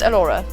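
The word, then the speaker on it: Elhora: It's just really like my real name's Elora, and it's spelt weird. It's spelt E-L-H-O-R-A.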